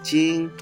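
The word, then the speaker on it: 精: If you add the rice radical, it means spirit, but the pronunciation changed a little bit, jing.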